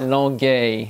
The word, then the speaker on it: Longueuil: Longueuil. Longueuil. It's spelled Longueuil, yeah.